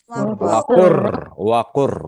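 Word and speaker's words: وقل رب: Gitu juga wakul rabbi dibaca wakur, hilang lam ya. wakul rabbi. Karena lam dan ra itu makhraj hurufnya berdekatan gitu.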